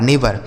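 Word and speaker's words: neighbour: Spelling ध्यान रखिए। एन ई आई जी एच बी ओ यू आर नेवर।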